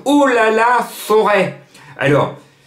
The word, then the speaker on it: Forez: aulas la forêt alors je m'adresse à ceux qui vont prononcer le nom forez il ya z à la fin mais moi je suis à billonnet j'ai des potes stéphanois et stéphanois me disait jean marc ont dit pas forez la plaine du forez non on dit pas la peine du forez on dit chez nous à saint-etienne chez nous les stéphanois ont dit forêt donc on prononce bien le